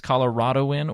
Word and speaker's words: Coloradoan: Apparently, you can say it both ways: Coloradoan or a Coloradan.